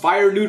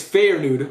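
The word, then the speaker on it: Feyenoord: You guys told me I pronounced Fire Nude wrong. I like Fire Nude. It's Fair Nude, so I apologize for that.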